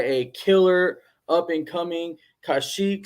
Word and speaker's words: Kaushik: Name is Kaushik. Kaushik. Yeah. How do you say your last name? So I got that one right, but the Yeah. first name, Kaushik. Yeah.